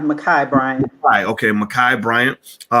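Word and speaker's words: Ma'Khia: the young lady in uh in ohio uh makia uh makia bryant correct that's the name yes it's pronounced makai makai brian okay makai bryant all right so we're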